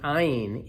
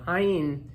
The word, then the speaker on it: ayin: ayin the same way we pronounce an aleph, that is just silent, right? But certainly, even in Sephardic communities today, but definitely back then, there was a different pronunciation for the ayin than the aleph, right? It had like a guttural sound to it, right?